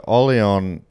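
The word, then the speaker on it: Orléans: your shoulder there dave so ollion is that's where new orleans is named after is it i imagine sorry because it is spelt orleans with an accent on the e yeah right there you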